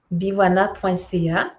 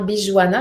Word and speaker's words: Biwana: Oui, biwana.ca. Alors, Biwana qui s'écrit Bijuana quand les gens le lisent, hein, Bijuana, mais moi je le prononce Biwana, mais peu importe comment on le dit, c'est bien parfait.